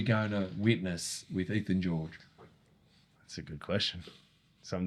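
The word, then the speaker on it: Giourgis: But yeah, but it's not George with an S. It's can't never No one knows spell. Is that like a Greek Greek thing? Well, it's a Greek surname, Georges, but it's spelled G I O U R G I S. Like you think Georgees, that's how it's spelled Georgees.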